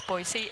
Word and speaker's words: Boise: And that I appreciated that that it was Boisey and it's also not Presnell, it's Presnell.